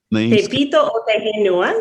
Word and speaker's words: Te Pito o Te Henua: Rapa Nui has also been called Te Pito o Te Henua as well. That's right. Te Pito o Te Henua, yes.